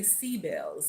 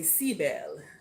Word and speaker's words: Sibyl: our uh sibl and I'm going to say seab bells okay if we want to pronounce it in the old new world language um and I'm just